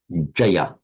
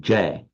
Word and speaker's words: jaya: And the verbal noun Jaya, which among the Hindi speakers in modern would be pronounced something like Jai.